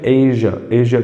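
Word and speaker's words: Asia: This is a grave provocation that can push waste एशिया, इसकी pronunciation एशिया करके होती है, एशिया.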